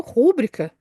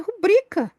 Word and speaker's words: rubrica: falar rubrica eu passei a vida inteira falando rúbrica e eu acho rúbrica muito mais bonito mas a pronúncia correta é rubrica eu passei a vida inteira falando elefoa Não